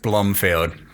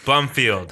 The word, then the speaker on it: Blomfield: All right, it's pronounced Blomfield. Bof. All right, we're going to go with that. Sean Bof Blumfield. Yes, Blomfield. B L O M F I E L. Blomfield. That's the one.